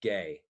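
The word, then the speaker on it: γῆ: Okay, that's just two letters, gamma eta, and pronounced gay, which is where we get geography.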